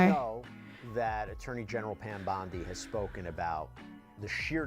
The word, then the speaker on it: Bondi: Now, we know that Attorney General Pam Bondi has spoken about the sheer number of videos, the manpower allocated. Her surname is spelled like Bondi in Sydney, but it's not pronounced Bondi, and that annoys me.